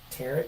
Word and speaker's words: tarot: tarot. Am I saying it wrong? Yeah, you're saying it wrong. How do you say Tarot.